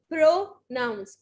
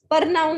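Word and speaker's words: pronounce: प्रोनाउंस. प्रोनाउंस बोल सकते हैं आप, प्रोनाउंस बोल सकते हैं, आ भी बोल सकते हैं, ओ भी बोल सकते हैं. ठीक है? परनाउन नहीं बोलेंगे.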